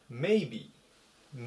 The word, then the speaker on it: maybe: 740 一番ですねメイビー maybe という単語ですアクセントが一番最初にあります多分とかもし